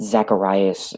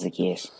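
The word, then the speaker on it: Zaccheaus: It's not Zacharias or anything like that. It's Zacchaeus. Zacchaeus, there we go. I'd be like, is it Zacharias, Zacchaeus?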